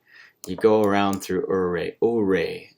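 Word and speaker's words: Ouray: Uri is how it's pronounced, I believe.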